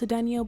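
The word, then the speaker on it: Cedeño: It's pronounced Cedeno, but they don't let me put the tilde.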